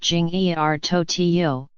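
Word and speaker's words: 今日头条: name means today's headlines in Chinese and is pronounced Jing er Tokyo aggregates content from various sources and looks much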